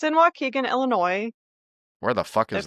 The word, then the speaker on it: Waukegan: How do they say it odd too, I'm sure. Waukegan? Yeah. That's how they say it. I don't know. Waukegan.